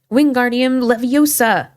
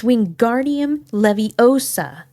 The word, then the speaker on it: Wingardium Leviosa: Winguardium leviosa, he shouted, waving his long arms like a windmill. You're saying it wrong. Harry heard Hermione snap. It's wingardium leviosa. Make the gar nice and long.